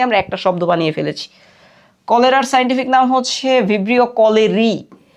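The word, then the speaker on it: cholerae: এখানে একটু খেয়াল করি, এখানে হচ্ছে AERAE, সো এই যে RAE এইটার মূলত হচ্ছে যে এ শব্দটা সাইলেন্ট থাকে। সাইন্টিফিক নামে আমরা এরকম অনেক কিছু দেখবো যেখানে তিনটা একসাথে থাকবে, তখন আমরা কি কাজ করবো, মাঝখানেটাকে সাইলেন্ট করে শেষেটা ধরবো।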